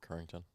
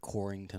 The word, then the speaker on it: Currington: easy yeah Copeland Porter Currington I get Corrington a lot yeah I could see